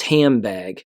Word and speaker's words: handbag: For example, handbag might be pronounced as hambag because the N assimilates to the B.